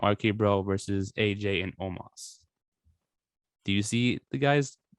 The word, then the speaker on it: Omos: I don't know how to say his name. Omos. There you go.